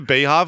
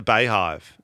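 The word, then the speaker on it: BeyHive: the Beehive save you legally is it the Beehive or the bive it's B cuz it's pronounced b e y yeah probably like Beyonce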